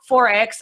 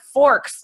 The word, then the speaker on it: Forex: blanks big-time like they they weren't even pronouncing it right they call it Forks like what is Forks you know they don't